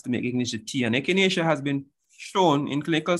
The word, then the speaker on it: echinacea: the flu virus so echinacea that's how it's produced echinacea don't try to pronounce it as a spell people that is that